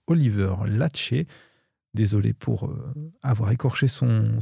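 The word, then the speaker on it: Oliver Laxe: Une mention spéciale du jury ayant été décerné au film Sirat de Oliver Lax. Je crois d'ailleurs que cela se prononce Oliver Lachet.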